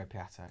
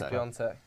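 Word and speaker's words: Piątek: England will win the World Cup, says it's Piatek, not Piontek. You're actually wrong. It is Piontek. Yeah. I was wrong for months, but I got told it's It actually is Piontek.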